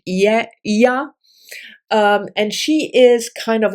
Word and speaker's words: Ea: EA is how it's written. So I pronounce it Ia.